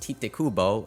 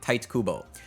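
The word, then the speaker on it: Tite Kubo: me it's not pronounced TI Kubo it's more like Tito or tights I think it's supposed to be tights like tight Kubo uh which does not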